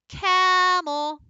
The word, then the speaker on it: camel: Camel. So cam is our accented syllable. That was the longest part. And then E became our lazy schwa.